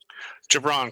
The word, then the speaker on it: Jubran: dog podcast i'm on the phone with did i say it right jabron close enough yeah well look at my last